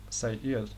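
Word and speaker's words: Seir: Bible now we see it's spelled s-e-i-r but the way you pronounced that say IL is very similar to this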